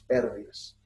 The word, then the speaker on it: pérdidas: Y por debajo de este punto, en todo este sector, está el área de las pérdidas, ¿no? Pérdidas con acento en la E.